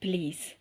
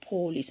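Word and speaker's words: police: போலீஸ் நோ அது கரெக்டான உச்சரிப்பு கிடையாது. ஆங்கிலத்துல சொல்றது வந்தா போலீஸ் கீழ போகணும் அது. ப்ளீஸ் ப்ளீஸ் பலீஸ் ப்ளீஸ் போலீஸ் கிடையாது.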